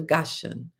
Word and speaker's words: Gashan: Only their children, their flocks, and their herds were left in the land of Gashan. Goshan is spelled G A S H A N.